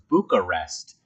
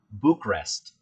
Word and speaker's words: Bucharest: of people pronounce it Bucharest. So not emphasizing the A in Bucharest. So I decided to pronounce it Bucharest.